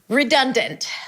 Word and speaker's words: redundant: We start with re ri. It's an R sound and a relaxed E. I hope you're doing it with me. I told you close the door. Re. Then we have done. Like I'm done with you. Done. Done. It's a D sound. A cup and an N.